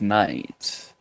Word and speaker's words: knight: there is no Black Knight really in I think L of the Rings is Black Knight what you mean do that K is silent there is no Black